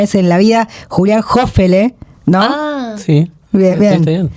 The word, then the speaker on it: Hofele: Estoy con Milly Piolet y con Jime Fuertes con eh, voy a pronunciar bien tu apellido por primera vez en la vida, Julián Jofele, ¿no?